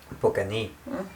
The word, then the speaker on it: Покани: The way you read it, this would mean you invited. Покани, last syllable. Покани.